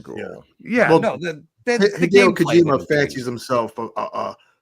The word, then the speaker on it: Hideo Kojima: Yeah, his name is pronounced Hideo Kojima.